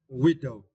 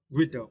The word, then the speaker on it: widow: the next words right Widow Widow and for this question you need to stress the first syllable we Widow yeah Widow it is now right